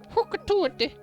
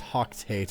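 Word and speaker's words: Hocotate: Hokatate. Hakatate. I think that's actually how it's pronounced, though. It's not pronounced Hoctate, it's Hokatate.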